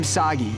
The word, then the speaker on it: Saggy: This is kind of overdue, but I'm Saggy. Rhymes with Saki.